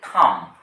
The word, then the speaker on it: thumb: এদিকে দেখুন আবার টি এইচ ইউ এমবি। এর উচ্চারণ হচ্ছে থাম। এই বিটা কেন আছে?